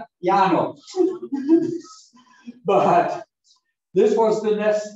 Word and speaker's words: Llano: Near the city of, we pronounce it Llano, but nobody down in Colombia pronounces it that way. Llano.